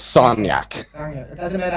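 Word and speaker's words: Sagnac: physics on this because they all say sagnak the guy was French his name was sonnak it doesn't matter how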